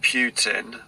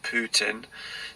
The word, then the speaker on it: Putin: The whole situation, why do you think President Putin, or Putin, depends how you say it, has invaded the Ukraine?